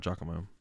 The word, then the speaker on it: Giacomo: Giacomo? Oh, it's called you pronounce it Giacomo? Alright, Giacomo.